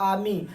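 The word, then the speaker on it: army: का ग्रुप होता है उसे क्या कहते हैं आमी उसको आमी पढ़ पढ़ जाता है लेकिन क आर्मी स्पेलिंग क्या होती है आर्मी लेकिन पढ़ा जाता है आमी ठीक है तो यानी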